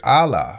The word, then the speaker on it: Allah: You have the A sound with Aleph and the L sound with Lamed. When you put those two together and make a two-syllable word, you come up with Allah.